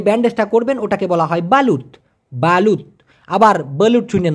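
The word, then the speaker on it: balut: দিয়ে পেচিয়ে যে ব্যান্ডেজটা করবেন ওটাকে বলা হয় বালুত বালু আবার বলু চুনেন না ভাই বি এল ইউটি উচ্চারণটা হচ্ছে এই বাত মানে আবার কুচে কুচে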